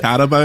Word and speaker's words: Carabao: Is it Carabao? Oh, is that how you pronounce it? Carabao, yeah. Carabao. I've gone for a can of original Carabao, which I've never actually had before.